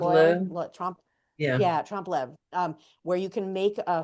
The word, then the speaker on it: trompe l'oeil: Yeah, trompe l'oeil, where you can make a fake it's not even fake.